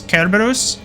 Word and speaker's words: Cerberus: I think, correct me if I'm wrong, but I'm pretty sure that the correct pronunciation of Cerberus is Kerberos. I think that's how you actually pronounce it, but I say Cerberus because it doesn't sound as stupid and dumb.